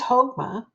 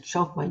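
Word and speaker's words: Chokmah: That ch is pronounced like a like a h.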